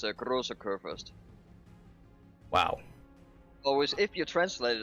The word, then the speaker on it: Großer Kurfürst: Or if you want to pronounce it in German, it's Großer Kurfürst.